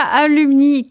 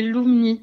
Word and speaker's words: Lùmni: Normalement c'est Lumni. Ah, Alors c'est pas mon vrai nom de famille en plus, mais avec l'accent sur le U, ça rappelle mes origines un peu siciliennes et du coup ça se prononce Lou.